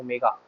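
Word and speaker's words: ω: है, ओमेगा है ना, इसको इसको प्रोनाउंस ऐसे करते हैं, इसको बोलते हैं ओमेगा, ठीक है।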